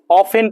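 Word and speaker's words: often: बाबू ऑफेन ऑफेन पढ़ेंगे इसको ऑफ्टन नहीं पढ़ा जाता है ऑफ्टन नहीं होता है ऑफेन होता है इसमें टी साइलेंट रहता है क्या साइलेंट रहता है टी ऑफेन पढ़ते हैं ऑफ्टन नहीं पढ़ते हैं ऑफेन का अर्थ क्या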